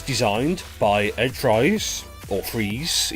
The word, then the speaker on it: Fries: And it was designed by Ed Fries, or Freeze. It's spelt Fries, but I'm told it's pronounced Freeze.